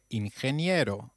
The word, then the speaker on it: ingeniero: Did you notice the pronunciation of ingeniero? G, when followed by E or I, takes up the sound of a stressed H.